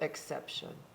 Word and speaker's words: exception: going to be shun that t i o n is going to be shun so exception exception very nicely said